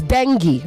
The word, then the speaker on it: dengue: It is dengue, okay? Not dengue. Dengue fever, not dengue fever. Dengue. The stress is on the first syllable.